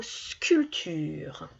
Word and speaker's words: sculpture: Il y a une lettre là, ici, qu'on n'entend pas. Ça s'écrit sculpture, mais on n'entend pas le P qui est en plein milieu.